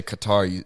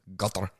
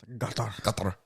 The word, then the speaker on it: Qatar: Qatar. No, you go it sounds like a G. It's like Qatar. But you don't say Qatar or Qatar. You say Qatar. Qatar. Like that. That's how you say it.